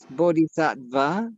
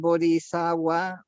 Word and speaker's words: bodhisattva: aggressive oh so in in India they do pronounce the V and and so like bodhisattva would be pronounce bodhisattva but when it went